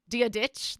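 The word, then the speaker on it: Dia dhuit: dear smith dear dear schmidt how would you pronounce it dia ditch there you go um which is do you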